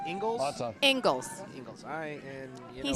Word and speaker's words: Inglis: You know, I asked Andy the correct pronunciation of his last name. Okay, what is it? It's actually Ingalls. It is Ingles? And it's Scottish.